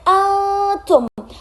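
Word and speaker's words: أنتم: Terus yang kedua itu di bagian antum, ada di situ dilihat ada nun mati bertemu salah satu huruf ikhfa yaitu berupa ta, jadi dibacanya samar. Antum.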